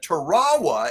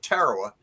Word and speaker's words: Tarawa: So I looked it up, and Tarawa is actually the correct pronunciation for that linguistic group. But Marines have called it Tarawa for 75 years, so it's Tarawa to me.